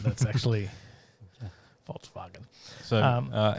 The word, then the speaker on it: Volkswagen: the the v yeah the v is uh pronounced as an f and the w is uh pronounced as a v in germany so it's a false bargain yeah it wasn't just